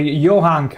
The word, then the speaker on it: Johanka: Well, Johanka, actually. That's the correct pronunciation.